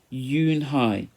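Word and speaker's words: Unhei: corrected it spelled you and hae why it's pronounced you and hi oh it's you hey the boys said like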